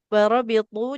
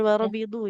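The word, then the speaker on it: وَرَابِطُوا: Warabitu. Jangan warabidu ya.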